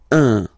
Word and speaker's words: un: without any doubt, but you've got to pronounce it like un. So it's what we call the nasal, so it goes in your nose, okay, un. So if you listen to me, you don't hear any N, okay, so it's just